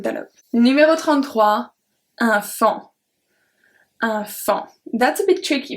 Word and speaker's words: faon: Numéro 33, un fan. enfant. That's a bit tricky because you want to say faon, but it's enfant.